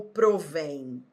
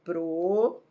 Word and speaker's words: provêm: Então, ó, eles, primeiro passo é separar as sílabas, ó, eles provêm. Segundo passo é identificar a sílaba tônica, é o vem.